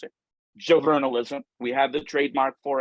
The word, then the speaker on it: JoVRnalism: students and I we produce under the name juvenalism that's how you pronounce it Joe vernalism we have the trademark for it um we